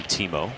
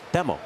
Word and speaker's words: Temo: Everyone always called him, and a lot of people still do call him Timo, but the proper pronunciation is Temo. Temo. Temo.